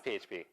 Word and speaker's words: PHP: It's pronounced fup. It's not. I looked it up. It's PHP.